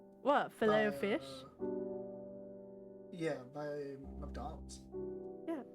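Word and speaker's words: Filet-O-Fish: How do you say this? Fileto fish or fileo fish. I feel like everyone knows it's technically the second pronunciation, but that we all say the first.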